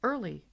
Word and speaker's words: Oehrle: Fred Oehrle, pronounced Early.